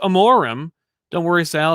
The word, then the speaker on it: Amorim: And Joey Amorim says, it's pronounced Amorim.